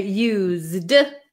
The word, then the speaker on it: used: we're going to say used it's gonna have a z sound so like I used